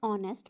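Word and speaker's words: honest: इसका answer A ठीक है हर फादर इसे ऑनेस्ट मां हर फादर इस ऑनेस्ट मां यहां पर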